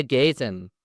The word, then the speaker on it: Gayton: I have on today Denis, Max and a special guest, Isaiah Gayton. hello there. Did I pronounce that right?